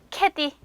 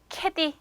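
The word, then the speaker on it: kedi: 고향 이라는 단어가 좋았죠 고양이 는 터키어로 캐디 캐디 이렇게 발음이 됩니다 자 그 다음에 영어에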